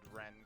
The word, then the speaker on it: Rien: It's Ren. R-I-E-N. Yeah. Reen. Well, it's Got it.